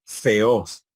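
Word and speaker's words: θεός: Theos, theos. Entonces ahí tenemos 2 sílabas, theos, theos. Fíjense que no hay un golpe de voz, un solo golpe de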